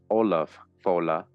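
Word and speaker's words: Ollamh Fódla: This is real history, Olam Fola, Jeremiah, Olam Fola, pronounced Olaf Fola, is a man well known of thought, not accurately known in Irish tradition as a great monarch, sage, and lawgiver.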